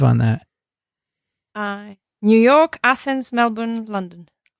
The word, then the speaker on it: Melbourne: And she was on a TWiV, actually, from Melbourne. Yes. They told me that's how you pronounce it, Melbourne.